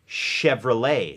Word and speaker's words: Chevrolet: รถ ยนต์ นะ ครับ Chevrolet ซึ่ง ตัว T ไม่ ออก เสียง นะ ฮะ เพราะ ว่า